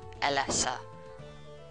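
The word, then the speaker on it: Elesa: Alessa they just pronounced her name as Alessa come on last roller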